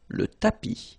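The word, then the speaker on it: tapis: one more time tapi remember final s not pronounced tapi so in the previous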